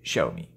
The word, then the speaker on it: Xiaomi: Donc, la prononciation en chinois de cette marque-là, c'est Xiaomi. Voilà.